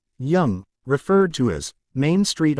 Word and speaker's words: Yonge: The longest street in the world is Yonge Street, pronounced Young, referred to as Main